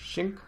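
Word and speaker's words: Qing: It's spelled with a Q, but I think the pronunciation is Xing.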